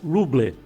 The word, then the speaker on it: Rumble: Então ela se escreve R-U-M-B-L-E, Rumble. Se fala Rumble, mas se escreve R-U-M-B-L-E.